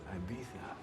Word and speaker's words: Ibiza: mmm all right they might get stolen it's pronounced Ibiza these folks realizing you're a crook not a